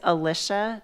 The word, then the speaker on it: Alicia: My name is Alicia rhymes with Patricia.